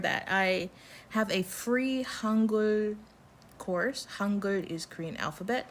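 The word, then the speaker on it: 한글: Has two syllables, H-A-A-N, Han, and then it has the other syllable, which is Gul, the G-E-U-L, Gul, Hangul.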